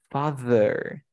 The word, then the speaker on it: father: Father, father. ¿Ya suena más agringado o no? Father. A ver, intenta pronunciar papá en inglés.